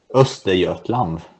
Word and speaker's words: Östergötland: Is how is it pronounced? Östergötland.